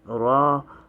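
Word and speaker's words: ر: z a a uh raw is like the english r except when you pronounce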